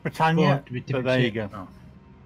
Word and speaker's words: Britannia: It's pronounced Britannia, but there you go.